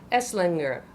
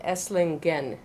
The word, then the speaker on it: Esslingen: 5s in her essing how do you say it esslinger a swinger and it's actually the town is called esslingen esslingen Germany that's when you yeah